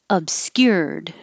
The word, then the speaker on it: obscured: Obscured, This is a weird combination, the skyer, skewer. So while your tongue is going up high in the back for the K, you're already very high for the Y. Keep it high, skewer, obscured. And hold the D unless there's a vowel after it.